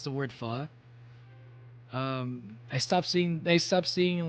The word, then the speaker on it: pho: to pronounce the word pho, I stopped seeing like PHOK on signs because people are like, wait a minute, it's not folk. If you actually pronounce it like pho, it's like you're saying fuck.